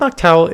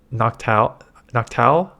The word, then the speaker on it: Noctowl: Noctowl? I don't think you pronounce a W.